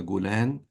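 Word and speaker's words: Golan: about what happened in the gulan uh I'm using the Egyptian pronunciation of the um is is is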